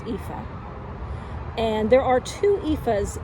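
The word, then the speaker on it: Aoife: very long time um paid homage to uh EPA uh this is an Irish an Irish name a goddess name aoi f it's pronounced epha and there are two epas in Irish and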